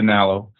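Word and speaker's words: Nallo: I think it's pronounced a Nalo, and that one is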